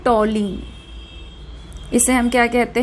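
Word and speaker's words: toluene: इसे हम बोलते हैं टॉलीन। इसे हम क्या कहते हैं, टॉलीन। कुछ लोग इसे टाउलीन भी प्रोनाउंस करते हैं, बट टॉलीन भी ठीक है।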